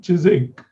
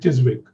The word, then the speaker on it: Chiswick: is an area called chizik but actually it's with a spelling which is with wick so i used to call it chiswick enough times before somebody